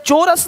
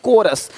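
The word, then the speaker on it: chorus: चोरस नहीं, कोरस, देख रहे हो?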